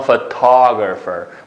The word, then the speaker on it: photographer: Sana photographer.